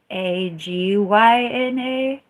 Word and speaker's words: Ajna: Ajna is AJNA, but there's a pronunciation that's like AGYNA.